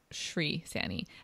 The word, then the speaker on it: Shree Saini: And just so listeners are aware, her name is spelled S-H-R-E-E. So Shree Saini. S-A-I-N-I.